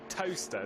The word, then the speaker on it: Towcester: How do you say it actually? Toaster.